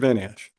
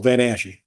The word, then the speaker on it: Van Ash: Van Ash? So they, Sorry, and I've heard your name 2 different ways, Van Ash and Van Ashy. You guys say it with, extra syllable, Van Ashe.